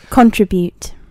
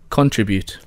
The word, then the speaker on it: contribute: beginning with C contribute contribute contribute come on oh right okay there is only one listed pronunciation for not just to contribute but also distribute and it is with stress on the second syllable um stress on the